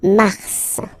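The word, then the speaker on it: Mars: try to practice it Okay then okay so in a way it's an exception because normally final s is not pronounced in French okay we got some exceptions and this one is one of them so Mar pronounce the final s mar mar okay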